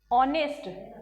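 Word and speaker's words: honest: एच से, लेकिन इसका एच क्या हो रहा है? साइलेंट। जो क्योंकि हम इसको जब बोलते हैं तो हम इसको बोलते हैं ऑनेस्ट।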